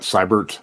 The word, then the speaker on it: Siebert: And since we're all about learning pronunciations, I know that Cybert, like Cybertron.